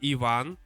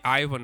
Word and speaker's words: Ivan: But it's actually Ivan. But I know Americans say Ivan for some reason.